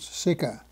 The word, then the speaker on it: CECA: Thus was born the European Coal and Steel Community, La Communauté Européenne du Charbon et de l'Acier, known by its French initials CECA, pronounced SICA.